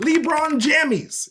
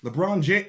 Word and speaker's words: LeBron James: from the animaniacs standing majestically behind nba superstar lebron jamies is that's how you pronounce it right it's libra on jammies right lebron james oh okay that sounds familiar so what appears